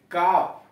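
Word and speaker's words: calf: हथेली, सी ए एल एम, काम, शांति, एच ए एल एफ, हाफ, एच ए एल, हाफ, आधा, सी ए एल एफ, काफ, गाय का बछड़ा।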